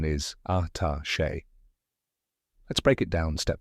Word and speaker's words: attaché: And finally, che, which rhymes with day. Now say it with me, attaché.